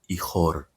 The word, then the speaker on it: ichor: He had one single vein running through his body from head to ankle, and in that vein, fluid, ichor.